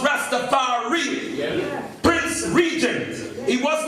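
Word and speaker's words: Ras Tafari: Rastafari, or in Amharic would be pronounced Rastafari.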